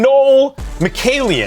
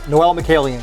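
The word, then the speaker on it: Mikaelian: Dang, that's and Noel Malen. Did I say it right? Noel Malian.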